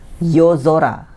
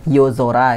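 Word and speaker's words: yozora: yang saya pilih ini cara baca soranya agak berubah jadi Zora ya yang tadinya Sora jadi Zora misalnya pada kata yo Zora yo Zora itu artinya langit malam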